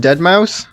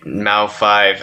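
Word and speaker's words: deadmau5: Is it just Dead Mouse? Nah, dude, Mao 5.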